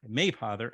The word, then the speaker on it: Mapother: It's a tough one. You hit that first syllable. There you go. Yeah, Mapother, as well as Amy